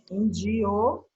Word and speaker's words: indiozinho: Aí o outro é Indiozinho. E a sílaba tônica, índiozinho, é o zi.